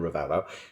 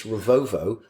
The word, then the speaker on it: Ravouvou: He So we listens to call the him pods, Ravouvou, because on TNT they call him Ravouvou. He got in touch with us and said, actually, boys, it's not, it's Ravovo, and I've been to ask him specifically how he pronounced his name.